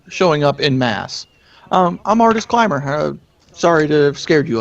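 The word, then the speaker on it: Artus Cimber: Artemis Climber? Artist Climber. Climber. It's spelled Artuscimber.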